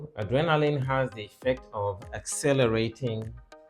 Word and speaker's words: adrenaline: we consider the options adrenaline in orthography it is stressed on the capital letters there and in transcription correspondingly on the second syllable so adrenaline not adrenaline by the way this is not so adrenaline second syllable all right so adrenaline